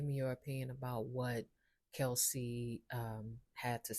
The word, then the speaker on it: Kelce: Now, jump in the chat, give me your opinion about what Kelsey had to say regarding the switch. But I would have a question for Kels. Actually, it's Kels. Let me not mispronounce his name.